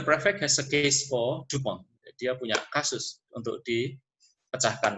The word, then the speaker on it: Dupin: Auguste Dupin, French name, tulisannya Dupin, tapi bacanya Dupin.